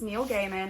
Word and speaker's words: Neil Gaiman: so sorry okay I looked up how to pronounce his name it's Neil Gaiman I looked it up out of respect cuz